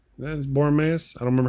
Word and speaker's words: Boromir: He was Boromea. That's Boromir.